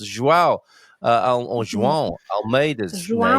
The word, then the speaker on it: João: She says she likes to watch the cycling, and it annoys me when people can't pronounce João or João Almeida's João name.